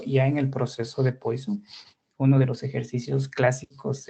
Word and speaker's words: Poisson: comenté en la presentación tiene una pronunciación que es francés de Poisson.